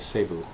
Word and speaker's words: Cebu: When I was in Cebu, sorry, that's how you say it, Cebu.